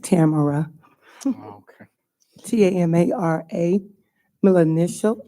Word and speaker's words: Tamara: It's actually pronounced Tamara.